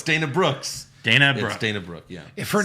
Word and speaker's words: Dana Brooke: almost five years and you still pronounce Dana Brooks name wrong yeah Dana Brooke yeah Dana Brooks yeah but that's not